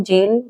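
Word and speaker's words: zeal: जेल, जेल word है ये, और जेल इसका सही प्रोनाउंसिएशन होता है जेल।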